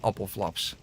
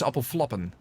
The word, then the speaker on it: appelflappen: It should be ik hou van appelflaps. And it's not appelflaps, it's appelflappen.